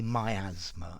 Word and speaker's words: miasma: Miasma. Although I have heard people say miasma as well, so I think probably both pronunciations are possible.